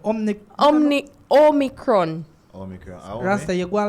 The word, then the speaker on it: Omicron: Omicron. That's what it's called. Omicron. Omicron. Not Omni. It's not Omni. It's Omi. Omi. There's no N.